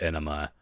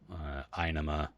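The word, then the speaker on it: Ænima: I always call it Enema, but I've heard Einema and Anima. I feel like it's Anima. I say Anima because that character, the AE is called Ash, and you pronounce it as a sort of like the ah, but I don't know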